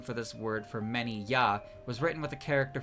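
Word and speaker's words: 八: That's why eight, the number one less than nine, was given the pronunciation ya, I believe.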